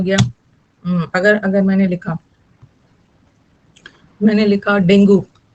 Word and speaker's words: dengue: अगर मैंने लिखा डेंगू, इसका करेक्ट प्रोनाउंसिएशन है डेंगी, डेंगी होता है, ओके। हाँ, डैट का प्लूरल दो, डेंगी डेंगी बोलते हैं, लेकिन सारे लोग आधे से अधिक डेंगू बोलते हैं ना, तो सबको डेंगू ही बोलना पड़ता है।